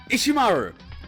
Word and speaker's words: Ishimaru: I keep mispronouncing. It's Hifumi and Ishimaru.